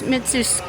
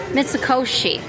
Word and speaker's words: Mitsukoshi: Mits mitsusi. Mitsukoshi.